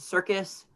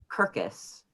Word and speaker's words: circus: one more small note you pronounced circus kirkus kirkus i did what's up